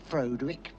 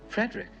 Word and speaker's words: Frederick: Do you also say Froderick? No, Frederick.